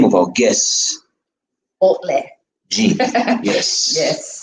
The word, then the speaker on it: Baudelaire Jean: And the name of our guest, Baudelaire. Jean. Yes. Yes. So like it's Baudelaire Jean, right? Baudelaire Because Jean, it's pronounced in French. So well, that's the French pronunciation, but I guess if